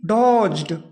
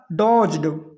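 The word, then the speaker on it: dodged: क्या प्यारे छात्रों ही डोज्ड डोज्ड यहां पे प्यारे छात्रों इसको डोज मत पढ़ना ये पढ़ा जाएगा डोज्ड क्या होता है कि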